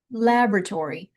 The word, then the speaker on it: laboratory: So we would actually say lab, and the R is going to stretch. Laboratory. Emphasis on the first.